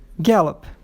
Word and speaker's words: gallop: Aí, gallop. A sílaba forte é a primeira.